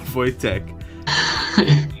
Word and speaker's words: Wojtek: Wojtek was a Syrian brown bear.